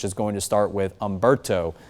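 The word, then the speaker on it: Humberto: And then eventually we'll get into the second column of names, which is going to start with Umberto. The H is silent on that name.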